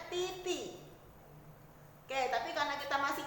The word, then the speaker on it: di: D dibaca T dalam bahasa Mandarin. Semisal kamu lihat DI, jadi bacanya titi.